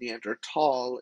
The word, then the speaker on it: Neanderthal: german means valley so it was neander valley neanderthal is technically the correct way to pronounce the neanderthal word even though it is